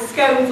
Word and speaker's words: scones: crochet doilies and and scones or scon depending on which way you want to pronounce them and cream and jam